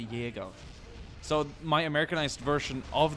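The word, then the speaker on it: Jäger: yaga yaga thing when I said jeager and people likes Jager or yeh guru and it's actually gay ago so my Americanized version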